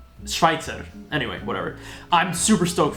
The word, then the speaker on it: Schweitzer: i've seen people say sir schwitzer but i mean it's i'm pretty sure it's pronounced schweitzer it's it's swiss german schweitzer anyway whatever i'm super